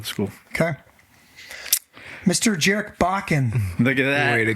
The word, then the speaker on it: Bakken: Well, now I'm going to say it just because it rhymes with fracking, and I think it's hilarious. I'm going to start Jarek fracking Bakken. You did it wrong there. Jarek Bakken.